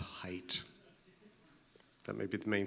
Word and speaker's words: Haidt: in the in-crowd now his name is pronounced Hite that may be the main thing you got out of everything I've said here at Jonathan height anyway yes so he's